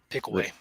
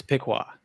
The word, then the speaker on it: Piqua: Pickaway. I think it's Pickaway. Just someone- pronunciation. It's Piqua. Piqua. I've Yeah. always pronounced it Pickaway.